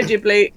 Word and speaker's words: Ghibli: how to say it, whether it's Gibli, Jibli, Giblets. Um, Studio Ghibli. Uh, which is the pronunciation I'm going with because that's how Myzaki says it.